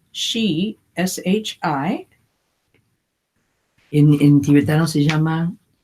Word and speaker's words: Shi: And it in Tibetan, Y en tibetano, it is called Shi, S-H-I.